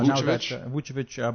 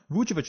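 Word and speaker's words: Vučević: Vucevic, because they also signed Ibaka in that trade.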